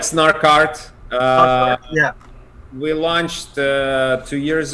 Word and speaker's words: Snark.art: snark Starkid snarky or snark how do you pronounce it we call it like snark art yeah we launched two years ago we kind